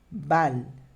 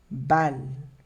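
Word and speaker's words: balle: Bal. Bal. Percebe que eu paro no L, eu não pronuncio o E do final.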